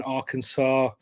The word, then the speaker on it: Arkansas: Scotland Uh Kevin in Arkansas um I think I said that right I'm from England uh it's got an S at the end doesn't it but it's not doesn't you don't pronounce that s um right uh we